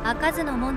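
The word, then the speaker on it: 不開門: ありましたがただしこちらは明けずの門ではなく赤ずの門と読みます当時の外側を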